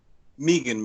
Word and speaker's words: Megan: Meegan. Oh, is it Meegan? Yeah. Meegan.